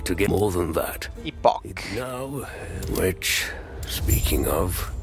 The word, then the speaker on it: Epoch: Epoch. Now, which, speaking of. A pronúncia do jogo é epoch.